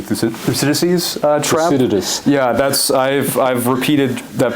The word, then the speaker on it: Thucydides: Now, we hope that, we're going to fall into this, what Professor Graham Allison has always referred to, the Thucydides trap, as one of the 4 scenarios out